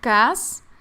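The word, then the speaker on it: כעס: Bueno, en hebreo la palabra que se traduce como atareado sería cas, así como se escucha. K a a s cas.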